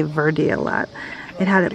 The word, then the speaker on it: Verde: that this is in I thought it was probably pronounced bad day but they say Verde a lot it had